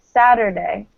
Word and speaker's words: Saturday: So in English we tend, or especially in American English, we tend to pronounce the T as a D. Saturday. Right? Saturday. It's like either a really light T sound or a D sound almost.